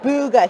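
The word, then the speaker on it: Bugha: don't have a hub oh how do you pronounce that name because the mousepad was yes booga he is the fortnite champion of the world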